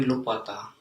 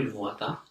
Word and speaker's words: luvata: En voi lupata. En voi lupata. Promise what? No. So is it lupata or? En voi luvata. En voi luvata, yes. The V is in the true form.